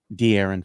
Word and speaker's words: De'Aaron: my heart dearn Fox they said I keep pronouncing his name wrong dearon Fox yes it's like Aaron yeah de I said